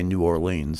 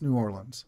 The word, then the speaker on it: New Orleans: It's one less syllable, Mississippi. I have been taught to never say New Orleans, so.